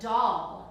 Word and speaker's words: dal: All right, and so tonight I am going to make a semi-new dish, and it's a dal, and kind of like you're a doll. Doll! Not like that. It's spelled D-A-L.